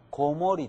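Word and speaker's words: 子守: 覚えていてくださいこう書いた場合ねこの時には小守とは言いませんこもりと言うんですねはい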